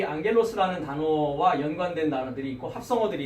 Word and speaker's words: ἄγγελος: 사자로 앙겔로스가 번역이 되어 있습니다.